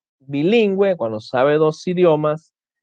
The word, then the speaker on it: bilingüe: Cuando la U debe ser pronunciada en las sílabas we, wi, por ejemplo, tenemos pingüino, paragüero, guiro, lengüetazo, lingüística, monolingüe, que es cuando sabe un solo idioma, nicaragüense, bilingüe, cuando sabe dos idiomas,